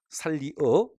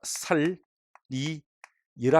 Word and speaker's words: 살리어: 살리어 발음을 제가 살리 여라 하겠습니다. 보셔. 야, 순행 같나 익행 같나? 순행이죠? 그럼 순행 통한등선 표준 발음 이다 아니다? 맞죠? 원래 원칙은 살리 어가 원칙이지만 살리 여도 표준 발음이 되는 것입니다.